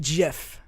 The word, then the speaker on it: GIF: both I guess it's the creator of the jiff your pronounces it Jeff he does word I